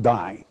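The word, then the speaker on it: δεῖ: it's the word must it's really a little three-letter greek word dei pronounced die comes from the prime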